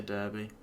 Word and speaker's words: Derby: It's one of my favorite ones, but it's Derby. I say Derby. Unless it's the city, then it's Derby.